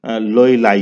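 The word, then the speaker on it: L'Huillier: अब ये एना या NHUILLER ह्यूलियर बनता है, लेकिन क्योंकि ज़ाहिर है ये एक इंग्लिश नेम है तो उसे इसके प्रोनाउंसिएशन लोइलाई है।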